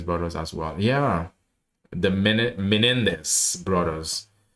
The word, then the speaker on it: Menendez: Yeah, because you have the case that Mendes brothers as well. Yeah, the Menendez brothers.